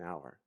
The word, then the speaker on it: hour: will arrive in an hour and this cage to a six the H is silent so even though the word doesn't start with a vowel it sounds like it does in which case you